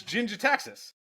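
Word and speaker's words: Jin-Gitaxis: Jin Gitaxis or Jin Ditaxis? How do you say it? You get probe somebody, but it's Jin Gitaxis. Yeah. I get here's probe. the thing. Okay, I'll happily be wrong on the pronunciation because I'm objectively right on this card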